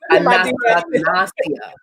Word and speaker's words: anosognosia: We laughed about it in class because none of us could pronounce it. It's anosognosia.